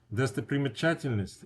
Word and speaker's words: достопримечательность: Достопримечательность is like a tourist site. That's one word, a lot of syllables in that word, but there's only one stress, and that's on the a in чательность.